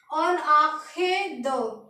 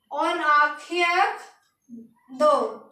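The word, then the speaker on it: en arrière de: तो इसके पीछे के लिए लगाएंगे हम ऑन आंखें दो। क्या बोलेंगे? ऑन आंखें दो, ENOARRIEREDE। तो हम बोलेंगे ऑन आंखें दो, ऑन आंखें द in back of, ऑन आंखें द इन बैक ऑफ।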